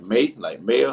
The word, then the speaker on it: Maia: Maya, something like that, Maia. That's what it's spelled like that, but I think it's pronounced like Maya or something like that. It's pronounced Maya.